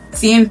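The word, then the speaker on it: cien: Next we have 100 pesos which is pronounced sen pesos.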